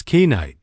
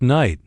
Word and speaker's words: night: I stumbled over the word night and said it as kite. The teacher smiled and said, "It's just night. The K is silent."